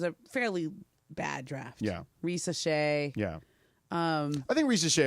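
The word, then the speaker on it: Risacher: We're talking Zachary Risa Shea. And we Ball pronounced it knowers.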